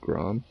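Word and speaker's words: Grahm: That's pronounced Grom. I've been calling him Graham this whole time.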